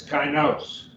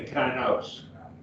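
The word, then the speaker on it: καινός: that's a diphthong and a diphthong will give you one syllable so a diphthong is not two syllables so the word over here chinos is broken right there where my accent mark is i'll face it apart it's kynose it's gonna be kynose and the i alpha iota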